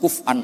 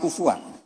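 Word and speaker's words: كفؤًا: Harusnya qiraah masyhurah itu walam yakullahu kuf'an ahad bil hamzah. Dan rata-rata qiraah sab'ah bacanya qurra sab'ah bacanya walam yakullahu kuf'an ahad. Bukan kufuan. Tapi orang Quraisy itu yubaddilunal hamzata wawan ba'da dhammi.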